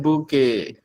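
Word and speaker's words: Bokeh: It begins with a boo. Never forget bouquet. It is spelled B-O-K-E-T. K-E-H. There is a O. That is why it is a boo.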